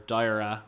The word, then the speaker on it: Dierya: I wanted to talk a little bit about the Dierya keyboard, or Dierya, I think is how it's pronounced.